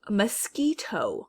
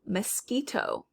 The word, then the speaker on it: mosquito: right c cool it's not in the first syllable and we do hear the q u next mosquito mosquito when i say this word i my mouth